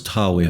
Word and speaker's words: Dragør: It's pronounced more or less d-hah-weir, and it's got nothing to do with dragons.